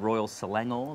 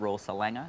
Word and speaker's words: Selangor: Pronunciation, putting the right emphasis on the right syllable is very important too. Good old Royal Selangor, the nice glassware, not Royal Selanger, as I said, I think the first show.